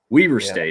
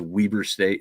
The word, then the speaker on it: Weber State: rival JMU, who crushes Weber State. It looks like Weber, but it is Weber State. If you ask them, that is how they pronounce it, almost like it has 2 E's in there.